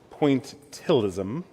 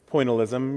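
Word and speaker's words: pointillism: more than to perfect pointilism I always want to throw an extra syllable into that word pointalism you know making all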